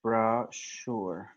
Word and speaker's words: brochure: we're gonna say sure brochure with a CH sound we also have machine